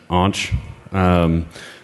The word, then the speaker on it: Anch: I pronounce it Anch. Technically, it's a form of Ankh, but I'm Anch, and you guys are